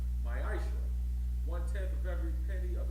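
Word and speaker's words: מעשר: It means tenth in Hebrew, and it's pronounced ma'ashra.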